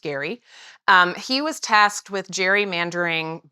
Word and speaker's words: Gerry: That's Gerry, but pronounced Gary.